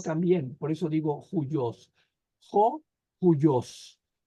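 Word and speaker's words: υἱός: tiene aquí espíritu rudo no se pronuncia como O sino como Jo joyos y luego Aquí tiene espíritu rudo también por eso digo Jos joyos y esto significa hijo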